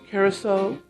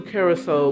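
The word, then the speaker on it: Curaçao: be using blue carousel that's spelled c u r a c with a funny accent at the bottom of the c carousel to give that s sound so a o liquor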